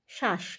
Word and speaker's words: শ্বাস: ব ফলা আকার দন্তস শ্বাস ওখানেও কিন্তু আমরা উচ্চারণ করছি শ্বাস দুটোই তালব্য স বলছি বছি না আবার ধরো স্বাদ স্বাদ